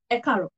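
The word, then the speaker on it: ẹ káàárọ̀: But over time, we go ekaro, ekaro. So this ku here becomes is joined together with aro. And it becomes a caro.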